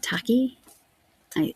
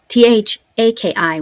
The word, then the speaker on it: Tahki: Tahki, Taki, I would think. Okay, sorry about that. So Thaki, which is Taki, I would assume is the pronunciation.